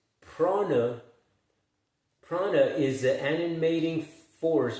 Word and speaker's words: prana: pronounced prana.